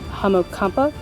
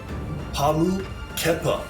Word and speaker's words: Hamu Kepa: think that, pardon me, I'm getting his name wrong. Hamokampa? How do you say it? Hamu Kepa. Kepa.